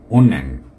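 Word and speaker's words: 은행: এটাকে আমরা উন্যাং, উন্যাং এরকম করে বলবো।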